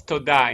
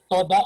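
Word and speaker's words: תודה: So, That's toda in Hebrew. toda, Thank toda, you. Toda. Yeah, Toda. toda. toda. Okay. Toda. Toda, Mm. Mr. Toda. Accent on the second.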